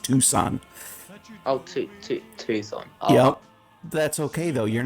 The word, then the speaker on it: Tucson: lot of americans mispronounce a lot of british cities and stuff but it's actually just tucson yep that's okay though